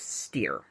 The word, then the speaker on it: Steir: Bruce Steir. Very appropriately, rhymes with fear.